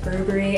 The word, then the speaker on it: Burberry: I say Versace, but I know it's Versace, so I'm trying to pronounce things correctly, just like Burberry and not Burberry.